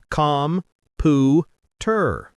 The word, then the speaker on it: computer: distinct, equally emphasized syllables: com, pu, ter. However, in natural English, we say computer. The primary stress and length fall powerfully on the second syllable, pew.